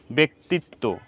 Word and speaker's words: ব্যক্তিত্ব: ব্যথিত ব্যক্তিত্ব, ব্যথিত ব্যক্তিত্ব। তো আমরা এখন বুঝতে পারলাম যে জফলা সংযুক্ত হওয়ার পরে যদি হ্রস্ব ইকার থাকে, তাহলে সেটা আমাদেরকে উচ্চারণ করতে হবে একার অন্ত দিয়ে, একার, ব্যক্তিত্ব বা ব্যথিত।